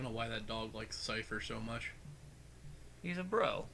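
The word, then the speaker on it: Seifer: Cypher, one of those pronunciations where it sounds like it shouldn't be to me. E-I, though.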